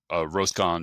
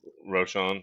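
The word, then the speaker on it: Roschon: And you talked about Roscon Johnson, or how do you say that? Roscon Johnson or Roscon? Roshan. Roshan, there you go.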